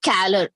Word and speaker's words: calor: So don't pronounce it as color. It is calor, right?